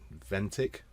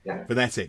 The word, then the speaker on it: Venetic: pronounce it wrong but V ventic ventic venetic that's it it's got an extra e in it I only ever read